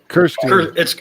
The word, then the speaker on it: Kirstine: Kirstine. It's Kirstine with an R. It's Scottish.